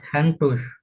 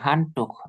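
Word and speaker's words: Handtuch: দাস দাস হ্যান্ডটুস, হ্যান্ডটুস না, হানটুক। এই যে হান, দাস হান, হান, এই যে টুক, টুক খ, এটা খ, উ এর পরে আচ্ছা, সে হা, খ, হানটুক।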